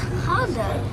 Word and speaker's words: Gouda: This is Gouda cheese. It's pronounced Honda.